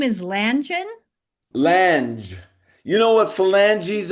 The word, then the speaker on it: Lange: No, it's Lange, understandable.